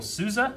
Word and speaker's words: Sousa: and sad but I mean we have Daniel Sousa is how you say his last name I